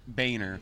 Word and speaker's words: Boehner: a senator or Congress by owner sounds right though he pronounced it Boehner but it was we spelled boner but he was in